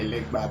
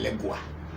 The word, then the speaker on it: Legba: America, they call it, instead of saying a legba, because they can't pronounce the word ba. They say gua. They say a legua. But then the pronunciation is ba, which is difficult to pronounce, so you hear them saying elegua, which is okay, it's the same thing.